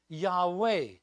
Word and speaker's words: Yahweh: spelling of god's name the tetrathon gone and pronounced yahweh from which we later derived jehovah and i'll